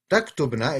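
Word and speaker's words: تكتبن: And taktubna is how you say you all.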